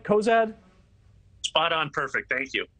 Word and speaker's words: Cozad: you am I getting your last name right Cozad spot on perfect thank you thank goodness there's